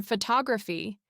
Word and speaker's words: photography: In photograph, the stressed syllable has a clear O sound. But in photography, that same vowel becomes schwa because it's no longer stressed.